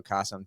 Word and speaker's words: Qasim: I am super excited because I am joined by Qasim Aslam, and you guys may recognize Qasim because his name rhymes with awesome, but also Qasim, you